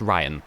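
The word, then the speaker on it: Raihan: hear ryan's voice and i'm sure it is just pronounced ryan just like like the name ryan is just spelled funkily because why not now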